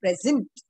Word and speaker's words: present: So if you will see, we say present, and that is why the accent comes after sent. The emphasis is on present. Whereas when we say present, the emphasis is on pre, present. And that is why the accent has come after pre.